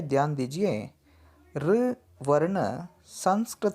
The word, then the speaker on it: ऋ: बच्चों यहाँ पे ध्यान दीजिए, ऋ वर्ण संस्कृत से आया है। इसे हम उच्चारण करते समय री के ध्वनि से उच्चारण करना है।